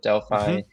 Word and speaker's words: Delphi: Delphi That's correct.